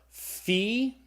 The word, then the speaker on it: phi: grouping we have the fee okay what's the pH sound like in the English word phone so the fee is a sound F sound the next letter I